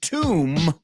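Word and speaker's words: tomb: with Dome absolutely and Tom rhymes with womb all right all right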